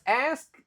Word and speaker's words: ask: I was asked. Nah, ini juga susah nih. Oke, ingat kalau ini cara bacanya ask. Kebanyakan orang pasti bacanya X. Kalau X itu malah K-nya duluan baru S.